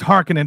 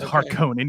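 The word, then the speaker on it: Harkonnen: chip and shatter harkening it's pronounced Harkin by the way everybody it's not har conin you absolute miserable swines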